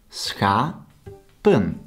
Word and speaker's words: schapen: The fourth and last one, schapen, consists out of two syllables, schapen. Here the vowel is written short, but the syllable does not end on the consonant, but on the vowel.